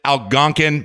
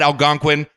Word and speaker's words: Algonquin: city was algonquin illinois i pronounced it algonquin my bad algonquin sorry about that i'm just a texas redneck we say it algonquin down here really terribly sorry